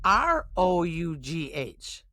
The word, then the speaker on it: rough: Now, we're going to take R-O-U-G-H. This word rhymes with tough.